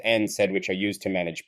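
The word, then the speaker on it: NSAIDs: sensitivity NSA AE DS by the way they pronounced as n said which are used to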